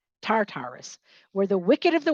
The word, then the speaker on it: Tartarus: lies the path to tartatus tartartus tatarus tatarus that's how you say it tartarus where the wicked of